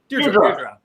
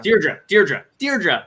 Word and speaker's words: Deirdre: Deirdre. Yeah. Deirdre, like teardrop, but Deirdrop. Got it.